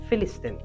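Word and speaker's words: فلسطين: আরবি উচ্চারণে এর নাম হচ্ছে ফিলিস্তিন।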